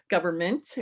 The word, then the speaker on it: government: love her government because that's how we pronounce it government right left out our end because we don't pronounce it and we pronounce the end of it like mint right and culture um